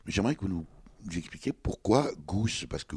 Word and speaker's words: G'House: que nous expliquer pourquoi goose parce que goût ça s'écrit g apostrophe h au s2 comme house comme un os en anglais exactement alors c'est venu